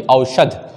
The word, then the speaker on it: औषध: उसके बाद औषध, औषध, द नहीं चाहिए हमें, ध चाहिए, औषध, तो ये भी गलत है। तो तीसरा शब्द उच्चारण के अनुसार और राइटिंग के अनुसार बिल्कुल सही है, औषध।